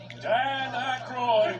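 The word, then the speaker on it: Dan Aykroyd: Jeffy Chase, Gilda Ratner, Dan, how the do you pronounce this? Dan Aroy.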